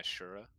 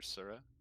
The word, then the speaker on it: Sura: and he is now my Shura, or Sura. Sura's right. I was Shura. pronouncing it wrong last time.